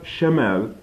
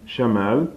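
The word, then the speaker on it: شَمال: familiar about you know the pronunciation is almost the same it's just only one letter is it's left and Shamel chamel is enough so shimel left and chamel is north foreign is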